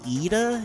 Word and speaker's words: Ida: Now I want to say her name as Ida. Is that correct? Yeah, that's correct. Oh my God, how did I do that? I have no idea. That's how you pronounce it in Sweden.